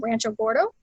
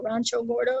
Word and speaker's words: Rancho Gordo: a more small scale, I recommend Rancho Gordo, or Rancho Gordo if you don't want to say it like a white person.